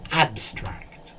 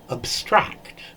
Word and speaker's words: abstract: Notice the pronunciation, abstract. But if we use it as a verb, to abstract, so abstract, the stress is on the second syllable in the verb, whereas the adjective and noun, it's on the first syllable.